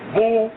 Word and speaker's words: Boule: known as Boule, pronounced Boule.